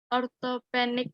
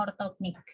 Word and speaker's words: ortognatik: apa ilmu kepeksa posisi Orthopedic bukan ibu Iya betul Kenny posisi ortognatik bacanya ortognatik Ya benar key lalu posisinya ini